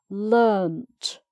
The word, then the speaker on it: learnt: Or what have you learnt today? So this time the vowel sound stays the same, and it's just the D or the T at the end that changes, as well as the spelling, of course.